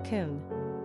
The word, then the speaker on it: Coen: pronunciation Kon simple meaning priest or Bold Ruler characteristics of